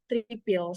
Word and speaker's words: tripil: Like if you ever heard about words travel, in Banjar we say tripil. So oftenly we say A as E.